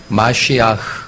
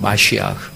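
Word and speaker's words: מָשִׁיחַ: 그 소리 나는 대로 읽으면 저게 마시아흐 그렇게 읽습니다. 마시아흐.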